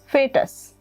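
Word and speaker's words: foetus: में इसको बोलते हैं फेटस। ऐसा तो लिखा है मैंने फोएटस क्योंकि स्पेलिंग ऐसा होता है, लेकिन इसको पढ़ते हैं फेटस।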